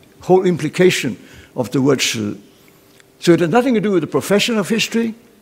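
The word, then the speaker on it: 史: The word history is shi, as the Chinese pronounce it. Today we call it li shi to make it two sounds, but the original word is shi.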